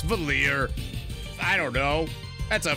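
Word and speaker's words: Valere: her name is pronounced valir not Valerie but I'm gonna I'm gonna pretend anyways that that her name is valid no okay fine it's valir I don't know that's a French ass name valir maybe that's live Mana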